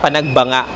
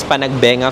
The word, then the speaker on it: Panagbenga: kahit ako rin naman ang basa ko sa pag-pronounce nung festival na yun is panagbenga festival. Pero nung nagre-research kasi ako ng mga pupuntahan namin and mga nakakapanood ako ng vlog and sa balita na rin ang basa pala or pronounce doon is Panagbanga Festival.